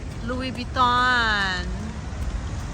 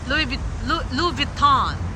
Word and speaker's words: Louis Vuitton: Louis Vuitton. Louis Vuitton. Yung pala yung bigkas nila.